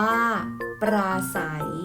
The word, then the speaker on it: ปราศรัย: อ่าน ว่า ว่า เศรษฐี ปราศรัย อ่าน ว่า ปราศรัย พยัญชนะ ต้น สอเสือ ควบ กับ ร เรือ อ่าน ออก เสียง ศ.